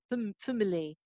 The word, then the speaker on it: family: In the word family, the syllable fam is always going to be a fam. You cannot say this syllable with a schwa, for example, I say family.